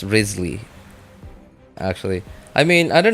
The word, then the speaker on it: Wriothesley: thing is not an issue his name is pronounced Risley actually I mean I don't know I was listening to the um the special program and they were they were pronouncing it as risely no okay okay okay I was going to